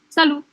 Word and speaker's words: salut: Tapi kalau misalnya informalnya, salut. Salut aja gitu kan, salut gitu. Oh, salut gitu ya, salut gitu. Salut, tulisannya salut, tapi T-nya nggak dibaca, jadi salut.